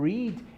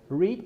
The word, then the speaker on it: read: Lembre-se, pessoal, que o verbo read, ele é um verbo irregular, né? A única coisa que modifica entre presente e passado é a pronúncia. Read, presente, read, passado.